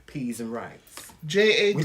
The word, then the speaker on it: Jaden: Yeah, she said we're pronouncing it right, yes. Jaden.